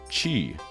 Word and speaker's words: Qi: religions um there is a word that is chi like it's spelled cure but it is pronounced Chi c-h-i